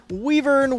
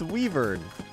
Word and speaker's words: wyvern: It's Weavern, like the Nintendo Wii, my favorite home video console.